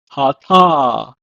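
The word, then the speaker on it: חטא: In Hebrew, it's pronounced as hata.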